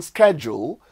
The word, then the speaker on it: schedule: Same thing goes for the American schedule for the word S-C-H-E-D-U-L-E, and the British pronunciation of it, which is schedule or schedule. You just have to be organized about which one of them to use. Schedule or schedule is British, while schedule is American.